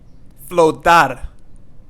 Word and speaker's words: flotar: Flotar. Flotar means to float. Flotar. And not flotar. We don't say it like that. Flotar, no. Flotar. Flotar.